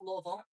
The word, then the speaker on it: Louisville: I will say it that way for everybody. Most people don't understand it when I say it like I'm from there. It's Louisville.